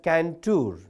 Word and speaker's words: Cantor: So once all of you please text George Canour George Canour George Canour C A N T O R but you have to pronounce it as Canour.